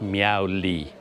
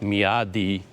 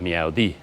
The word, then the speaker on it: Myawaddy: because a lot of people say it as Miao Lee but he told me no you do pronounce the DS so like me Adi but when people speak really fast they save